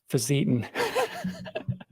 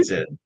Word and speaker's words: Fisetin: And now uh, let's talk about a very big controversy: how to pronounce Facetin. Well, I say You, Fisetin, yeah, but you said I Facetin.